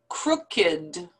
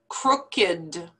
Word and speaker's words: crooked: these are not verbs these are actually adjectives so the pronunciation is a little bit different from the rule that we learned with the past tense verbs so listen to how